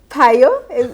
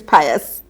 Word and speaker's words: Pius: So some people call him Pius. Some people call him Payo. Paya. Paya. And others call him Pius. And the right way to say it is Pius.